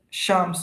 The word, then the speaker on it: Shams: Uh hi Shamsa is it uh did I pronounce your name properly? Shams right Shams.